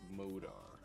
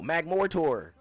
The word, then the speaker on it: Magmortar: And Magmortar. Oh, Magmortar. I pronounce it that.